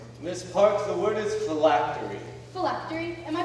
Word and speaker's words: phylactery: a beautiful country miss parks the word is phylactery phylactery am i pronouncing that correctly yes thank you my higher